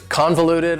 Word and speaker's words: convoluted: Convoluted also has 4 syllables and the stress is on the first syllable. Convoluted. That second syllable again has that schwa sound, that reduced vowel sound.